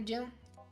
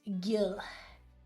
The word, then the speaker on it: Gil: you're coming to the New Year's party too, Jill? Gil? God damn it, I'm doing what the GIF pronouncers. I'm doing the same scene as them. I can't do that. I cannot do that. No. It's Gil.